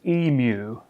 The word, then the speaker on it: emu: me in the comments that this big ugly bird, native of Australia, is pronounced emu.